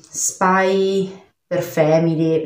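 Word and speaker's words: Spy × Family: l'ho sempre solo letto, essendoci una X in mezzo, quindi per me è un per.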